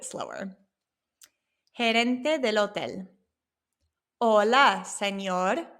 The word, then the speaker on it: señor: Remember, it has that N with the squiggly line, so it makes that nia sound. Señor.